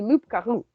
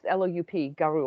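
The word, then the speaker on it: loup-garou: There's a P in the spelling of it, but There's not in the actual pronunciation. Okay, Like a that makes sense. well-kept, like a well-kept pool, there's no P.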